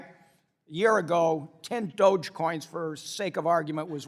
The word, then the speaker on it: Dogecoin: which a year ago, is it Doggycoin or Dogecoin? Dogecoin. All right, I have 10 Dogecoins, all right? A year ago, 10 Dogecoins, for sake of argument, was worth $1,000, so $100 a coin.